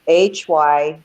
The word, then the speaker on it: hygge: spelled at all like it doesn't sound like it's spelled, but it's Hygge and Lykke, and it's Scandinavian. It's Danish, and it's basically for the hygge, which is the Hygge, was written by a